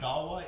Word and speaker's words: Ottawa: So now, you growing up in Ottawa. Say it again. Ottawa. Ottawa. Yeah. I'm really having a problem. Odawa is the native pronunciation, I think, though. Like the original Odawa.